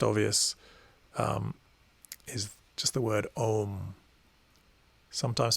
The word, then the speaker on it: Om: But Om, Om, Om is something along the lines of how it's pronounced.